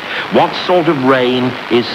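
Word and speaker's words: serein: right what sort of rign is s spelled s e r e i n French if you didn't spot the pronunciation small blame to you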